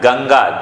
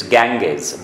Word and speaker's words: गंगा: कुछ शब्द ऐसे हैं, गंगा, दे यूज टू प्रोनाउंस इट गैंगेस।